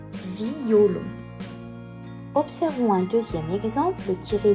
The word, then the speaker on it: violon: sur le mot violon nous devons le prononcer en trois syllabes distinctes violon observons un deuxième exemple